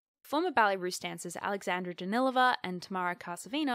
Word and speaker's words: Danilova: and her own work alexandra danilova or danilova i've also heard it pronounced i guess i'm going to say it danilova from now on because i heard someone who knows things say it that way alexandra danilova danced with